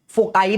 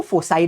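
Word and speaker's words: foci: अब इसका प्रोनाउंसिएशन आप फोकाई भी कर सकते हो या फिर आप इसको फोसाई भी बोल सकते हो।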